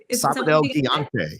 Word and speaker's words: Sábado Gigante: were six years old and how do you pronounce that sabad higante Sab gante yes okay I actually giant Saturday in English